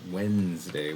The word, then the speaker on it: Wednesday: But um but it is not for some reason we pronounce it Wednesday which to me sounds like it seems like